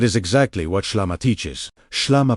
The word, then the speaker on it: shalom: Shalom pronounced, shalom, meaning peace, wholeness, harmony, and restoration is not passive acceptance.